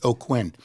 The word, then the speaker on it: Aucoin: And you spell his name, his last name is Aucoin, and it's pronounced Aucoin.